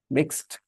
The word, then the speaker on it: mixed: c p after that if there is Ed then the the Ed is pronounced as t t to mix ends with sound mixed he fixed my car